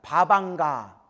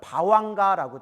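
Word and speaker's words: bhavaṅga: 바방가. 또 다른 발음 바왕가라고 돼요. 따라해보세요.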